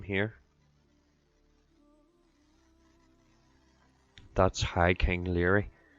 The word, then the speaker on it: Laoire: That's High King Laoire. That's actually how you pronounce that, Laoire.